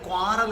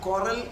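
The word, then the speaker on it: quarrel: ഹൗ ക്യാൻ യു ക്വാറൽ നിങ്ങൾ ക്വാറൽ എന്ന് പറയും ക്യു യു എ R real അതിന്റെ ഉച്ചാരണം കുറൽ എന്നാണ് കണ്ടോ അപ്പൊ ഒരു വെടിക്ക് രണ്ടു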